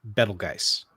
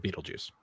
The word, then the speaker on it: Betelgeuse: I had a natural sciences teacher who was fine with the pronunciation Uranus, but you had to say Betelgeuse instead of Beetlejuice.